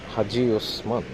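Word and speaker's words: Hacıosman: Alphabets are written Hasi Osman, so in fact it's Haji Osman. That's how it's being pronounced.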